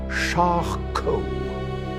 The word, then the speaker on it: Charcot: It's pronounced Charcot.